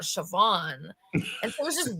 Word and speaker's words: Siobhan: But then it also said Siobhan Evans, but spelled like the very kind of European, like Shibahan, right? When you look at it. And I was like, who's Siobhan Evans?